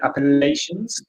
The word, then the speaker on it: Appalachians: are the appalachians that's how you say it appalachians so perhaps you've got that one i think